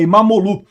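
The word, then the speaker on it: İmamoğlu: A, aliás, o regime do Erdogan prendeu até o prefeito de Istambul, o Imomoglu. Falei sobre isso, aliás, não se pronuncia o G, né? Então, e é Imamolu, eh eh que é o principal opositor do país.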